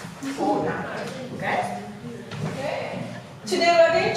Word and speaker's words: Fortnite: Minor pronunciation. Fortnite.